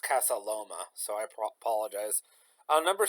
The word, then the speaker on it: Casa Loma: So I did look it up, and it was actually pronounced Casa Loma.